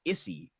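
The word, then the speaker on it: Isy: It's spelled I-S-Y, but I'm going to pronounce it Izzy, because it should be pronounced Issy, and fuck that.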